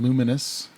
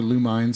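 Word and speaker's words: Lumines: uh this game is called luminous yeah or lu mines if you want to mispronounce it luminous yeah yeah l-u-m-i-n-e-s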